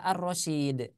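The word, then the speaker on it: الرشيد: cara membacanya suaranya berbeda yang awalnya Al Rasyid kalau menggunakan kaidah tajwid maka dia dibaca Arrasyid ya tapi maknanya beda enggak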